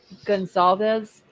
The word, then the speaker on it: Goncalves: Scarlett, I was just looking back, and Mr. Goncalves, is that how you say his name? Gonsalves. Gonsalves, okay.